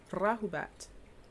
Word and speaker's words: rahubat: So it's not rahubat, it's rahubat. Rahubat.